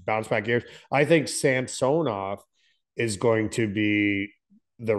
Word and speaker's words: Samsonov: The other goalie they got, Schnetstikov or Samsonov, Samsonov. Samsonov or whatever. Samsonov. Yeah. Yeah. I think these are going to be huge bounce back years. I think Samsonov is going to be the real deal.